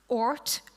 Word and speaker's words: Oort: need to use is Oort Kuiper, as in the Oort cloud and Kuiper belt.